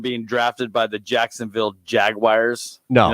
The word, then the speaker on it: Jaguar: Never heard that car pronounced Jaguar. It's only when it turned into an NFL team. No, it's always been pronounced Jaguar.